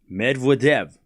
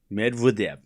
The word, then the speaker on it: Medvedev: We don't have to pronounce worry about pronouncing names. It's medev. We all know that right chat get it right. Medvidev. Medvidev.